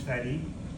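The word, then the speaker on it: Fady: My name is Fetti. It is spelled f a d y, but it's pronounced like it's spelled.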